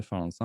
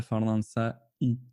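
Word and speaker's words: فرنسا: Donc on ne prononcera pas fi ila Faransa i. Ila Faransa. Bien qu'il y ait une kasra en réellement qui n'est pas visible. Mais on ne la prononcera pas.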